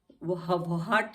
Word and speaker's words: what: WHAT, अब क्या है, डब्ल्यू के बाद आया है एच, तो हम इसको व्हाट नहीं पढ़ते हैं, व्हाट, व्हाट, एच साइलेंट हो गया।